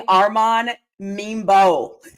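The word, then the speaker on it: Armand Membou: I have the New York Giants selecting Arman Mebo.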